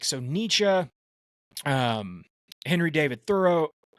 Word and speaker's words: Thoreau: Nietzsche um Henry David Thoreau thorough I guess that's how you say yeah that's how you say it but like they were